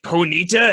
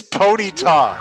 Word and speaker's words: Ponyta: Will the warlocks manage to catch Ponita and add it to their collection? Let's find out. It's Ponyta. You're emphasizing all of the wrong syllables.